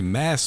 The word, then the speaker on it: Mads: In the meantime, I found a video that said we've been mispronouncing Mads Mikkelsen's name. It's actually Mass Mikkelsen or Moss Mikkelsen.